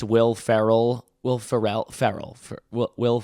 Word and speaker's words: Ferrell: I think it's Will Ferrell. Will Ferrell. Ferrell. Will Will Ferrell hosting? Will Ferrell, not Frell.